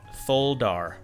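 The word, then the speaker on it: Thuldar: damn uh full dog foldar could you spell that for me please you know there's a a letter in the english language you know yeah for th how it's pronounced as f so t-h-u-l-d-a-r t-h-u-l t-h-u-l-d-a-r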